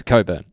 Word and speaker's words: Cockburn: I love people where the surname is Cockburn and they try to pronounce coburn yeah that's that's one